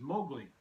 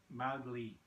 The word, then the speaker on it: Mowgli: Now, one thing that they did get wrong with this, apparently the main character they pronounce as Mowgli, and it's actually Mowgli, Mauglee.